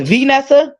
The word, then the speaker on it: Vanessa: I'm saying it wrong oh it's venessa like event is venessa okay venessa I'm sorry okay